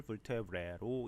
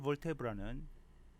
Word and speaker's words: vertebra: 목척추뼈라고도 하고 cervical vertebrae로 이렇게 쓸 수 있습니다. vertebra의 발음은 이름절에 강세를 주는 것이 보통이고요. 형용사인 vertebral일 때는 이음절에 강세를 줘도 된다고 사전에 나와 있습니다.